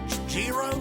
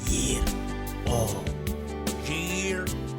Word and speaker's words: gyro: you how to say it's gyro ain't it no yo Jiro no no no listen to me year o Roo welcome back